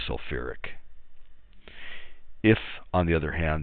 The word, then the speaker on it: sulfuric: is changed to kick so some people that would write self fick acid but chemists they put that extra syllable in there so it's really sulfuric if on the other